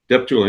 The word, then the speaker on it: Deptula: Now Ray, your last name is pronounced Deptoula. Depula.